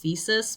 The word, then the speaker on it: Physis: blind oracle they have named Physis, who, looking at the katakana, her name is actually supposed to be pronounced Physis, but I'm not doing that.